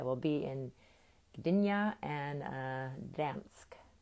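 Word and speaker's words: Gdańsk: be in dyna and dansk you don't pronounce the g someone told me so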